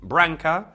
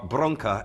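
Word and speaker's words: branca: because again um basically branka or bronka as it is pronounced in Portuguese is the femin feminine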